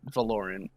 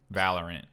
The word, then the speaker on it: Valorant: i haven't played it don't don't call it valorian valorant whatever i don't care it's supposed that's how